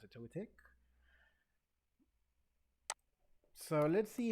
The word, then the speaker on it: Togetic: How do you pronounce it? Togetic.